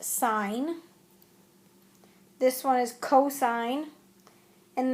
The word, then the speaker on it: sine: is the adjacent side this is pronounced sign this one is cosine